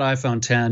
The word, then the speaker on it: iPhone X: I'm gonna call it I'm gonna call it iPhone 10 even though there hasn't been a nine and